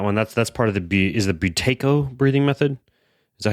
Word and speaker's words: Buteyko: That's part of the Buteyko breathing method. Is that how you pronounce it?